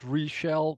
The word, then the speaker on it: Richèl: My name, this is how you pronounce it, Richèl, rhymes on seashell, that's how I remember it.